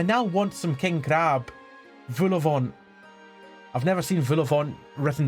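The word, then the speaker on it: vol-au-vent: Vulavant. I've never seen Vulavant written down before, but I know that's how it's pronounced.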